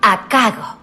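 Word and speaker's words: 赤子: Doncs bé, resulta que a Horai el caràcter de Seki es pronuncia d'una altra manera. Akago.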